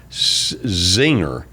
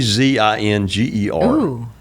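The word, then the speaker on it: Czinger: I think it's pronounced Zinger. It's C Z I N Ge R.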